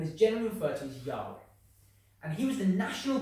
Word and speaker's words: Yahweh: And the 4 letters read Yod, He, Wah, He. And this is now pronounced as Yahweh.